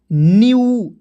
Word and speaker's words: new: जैसे NEW, यहाँ पे एन है तो एन से आधा ना होता है, EW आया तो इसको उच्चारण यू के रूप में क्या हो जाएगा दोस्तों, न्यू।